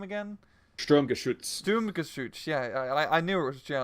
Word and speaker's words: Sturmgeschütz: Sturmgeschütz.